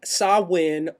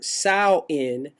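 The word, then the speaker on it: Samhain: of the deceased would be available Sam Hayne pronounced sawin or sain means Summer's End by the selts in Old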